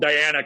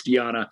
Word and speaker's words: Diana: It's hard because it really is spelled Diana conventionally, but it's Diana.